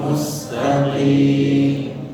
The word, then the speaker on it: المستقيم: كلمة المستقيم فيها قاف مكسورة، Di qim mustaqim ada qaf yang berharakat kasrah. لا يصح أن أقربها من الكاف. Dan tidak sah, tidak sempurna pengucapannya kalau kita mengucapkannya dengan Kaf, bil kaf. كاف. dengan kaf. Enggak boleh mengucapkannya dengan kaf, tapi qaf.